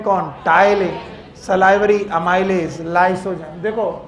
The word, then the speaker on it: टाइलिन: इसके अलावा एक एंजाइम है, नाम है टाइलिन। टाइलिन, पिटाइलिन नहीं, पी को साइलेंट करना है, टाइलिन पढ़ना। इट is known as salivary amylase, salivary amylase.